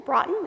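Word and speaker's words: Braathen: a t h n Bron is how it's pronounced there's still brought in construction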